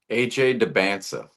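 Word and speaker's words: Dybantsa: AJ Debansa.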